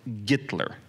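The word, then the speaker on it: Гитлер: So, except in Russian it would be Gollywood, because I don't know, too much information, but they don't pronounce H in Russian. So a name like Hitler is pronounced Gitler.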